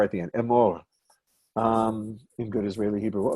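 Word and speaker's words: אמור: E-M-O-R. Yeah. Short E, long A, somewhere in the middle.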